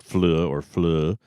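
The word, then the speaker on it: Fløe: And then Cecilia Fleu, it's F-L-O with a line through it and then an E. I believe I'm pronouncing it right, Fleu, with 11 goals.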